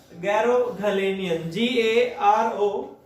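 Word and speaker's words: Garoghlanian: उसका नाम है गैरोगलेनियन, GAROGHALIAN। ठीक है जी, हाँ स्पेलिंग बिल्कुल ठीक है।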